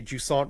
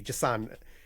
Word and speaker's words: Jusant: it's like when we just say Jusant wrong, and it's like it's actually Jusant. It's like it's not Jusant, it's Jusant.